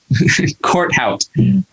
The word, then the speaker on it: Corthout: Corthout.